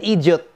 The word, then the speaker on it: idiot: When you say idiot, you have to pronounce it with 3 syllables, no?